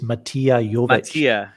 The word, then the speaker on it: Mattia: you matia was saying pronounce his name properly it's mattia okay i'm sorry you